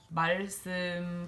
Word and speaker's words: 말씀: we learned is that when lir appears between a vowel and a consonant or is followed by another lir, that it's gonna be an L sound. So 빨리, 말씀, 발다, and 얼마나.